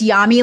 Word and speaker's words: Yami: It's Yami like mommy.